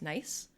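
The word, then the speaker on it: gneiss: a blue stone a type of stone called nice g-n-e-i-s-s i looked it up and for some reason instead of being pronounced like nice this is how i would say it it's pronounced nice and actually it's a kind of stone called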